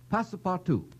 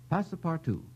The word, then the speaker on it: Passepartout: Passepartout. Passepartout. P-A-S-S-E-P-A-R-T-O-U-T. Mr. Kieran, my spelling is correct. Spelling is correct and pronunciation is beautiful.